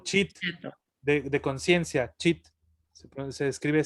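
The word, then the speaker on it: ceto: escribe seto, pero se pronuncia cheto, o chit, Ah, sí.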